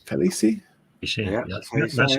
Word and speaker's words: Khaleesi: Game of Thrones, Khaleesi? Is that right? Khaleesi? You see, Yeah, yeah, that's how you say it. you pronounce it.